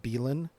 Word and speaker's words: Belan: listening out there like I do pronounce it belan yeah okay yeah I wasn't sure it was bellan or belan yeah belan and you